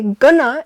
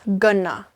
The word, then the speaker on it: gonna: Obviously, gonna is short for going to, so it sounds like this. Gonna.